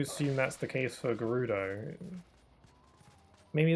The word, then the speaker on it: Gerudo: There are a lot of people who used to pronounce the Gerudo as Gerudo with a J instead of a G sound at the beginning, and I always pronounced it Gerudo.